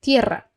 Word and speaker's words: tierra: Tierra, tierra. E se você tá com dificuldade ainda assim, tenta separar a palavra por sílabas.